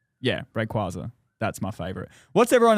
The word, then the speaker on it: Rayquaza: I'll say my favorite Pokemon is probably Rayquaza, I think, if that's how you pronounce Yeah, Rayquaza.